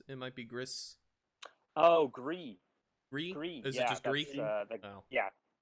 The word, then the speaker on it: Gris: Oh, Gree. Gree? Is it just Gree? Yeah, it's gray in French, I believe. Ah, well, that would explain it. There's an extra letter in there that doesn't make a sound.